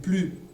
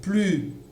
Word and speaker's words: plus: Elle est plus. Elle est plus belle que toi. Ici, nous avons un adverbe, d'accord, qui commence par une consonne, encore, d'accord, une consonne. Donc, le S ne s'entendra pas.